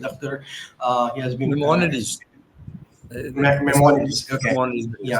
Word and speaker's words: Maimonides: If I'm just pronunciating it right, I will ask Dr. Saeed Akhter. He has been Maimonides. Maimonides.